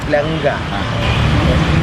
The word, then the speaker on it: planga: Another word with gamal is planga. Pe lamad gamal alep. But that gamal is given a nasal sound, planga.